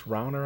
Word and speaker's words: Rauner: Bruce Rauner, I believe is That's correct. how his last name is pronounced.